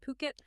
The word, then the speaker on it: Phuket: Ocean Worldwide, they're a luxury real estate agency based right there in Fuket. And just so we're all on the same page, that's ph pronounced Puket.